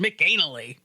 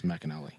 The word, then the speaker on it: McAnally: was just like, mally, why is he going to some place called Mcanally? No, it's Macelli.